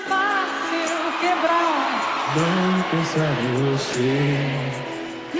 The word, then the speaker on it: Fácil: Fácil. Fácil. Fácil. Fácil means easy. Notice how the IL is pronounced ew, like you just saw something gross.